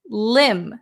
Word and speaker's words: limb: limb silent B.